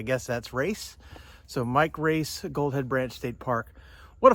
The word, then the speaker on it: Roess: of the volunteers that it's pronounced race there's not an A in it it's r o s but I guess that's race so Mike race goldhead Branch State Park